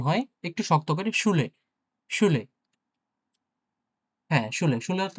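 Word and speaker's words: Schule: ওকে, ৩ নম্বরে আসি এস, সে, হা। এইগুলো এই ৩ টে একসাথে থাকলে তালব্য স বা স এর মতো উচ্চারণ হয়, হ্যাঁ? স এর মতো। দেখি দেখি কেমন? ওকে। এস, সে, হা, উ বা ইউ, এল, এ। শুলে, শুলে, হ্যাঁ।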